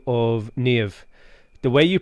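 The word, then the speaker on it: Niamh: a colleague from ireland by the name of nev the way you pronounce it neve like steve she keeps saying is so much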